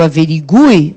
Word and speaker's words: averigue: que nós punhamos aí nesse U pronunciado e tônico também caiu. Então, a gente pronuncia que o averigue, mas não coloca mais acento algum.